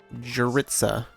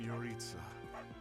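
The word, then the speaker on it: Jeritza: Jaritza. What do you want? Ooh. Hello, Vega. I am Yoritza. I teach here. Okay, of course his name isn't pronounced the way it's spelled.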